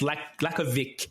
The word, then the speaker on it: Lakovic: Number 17, Lyndon Lakovic, pronounced Lakovic, actually. That's how he pronounces it.